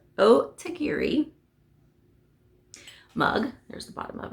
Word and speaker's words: Otagiri: I said it right. Otagiri mug.